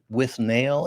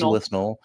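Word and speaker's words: Withnail: I from 1987 uh often mispronounced but with nail and I what is this no his name is winel um this is so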